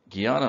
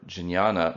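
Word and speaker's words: jñāna: devotion which is bhakti-marga guyana marga or jinyana marga which is closer to the classical pronunciation is the way of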